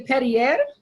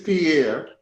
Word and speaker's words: Pierre: sorry i don't want to say petty ed i doubt that that's how you say your name i'm sorry if i butchered it it's pierre yeah right differently than